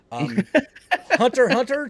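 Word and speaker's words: Hunter × Hunter: Hunter x Hunter ×2. By the way, you don't pronounce the X.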